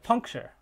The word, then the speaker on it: puncture: What about a word like puncture? Well, if we were to transcribe that, we would have a light final syllable because that final syllable is actually a syllabic consonant. And so there's nothing in coda. The nucleus is just that R, puncture, chur, chur. There's no vowel there. It's just R.